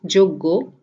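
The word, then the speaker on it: যজ্ঞ: So yagna becomes joggo, yagna to joggo, yash to josh, yug to jug, yuyutsu to jujutsu.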